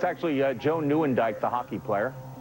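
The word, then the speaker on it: Nieuwendyk: McInley, the actor, but it's actually Joe Newandike, the hockey player.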